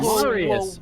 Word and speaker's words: Marius: Marius. Amazing. Marius, like Mario.